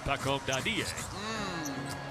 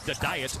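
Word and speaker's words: Dadiet: They pronounced it Paco Dadier. Although Josh Hart was calling him the diet all of his rookie year last season.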